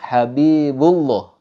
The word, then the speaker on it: Habibullah: dibaca ada seperti Wow misalnya habibu Habibullah Nah di situ ada ada seperti Huruf waunya itu salah tapi yang benar contohnya Habibullah langsung pada lafaz Allahnya tidak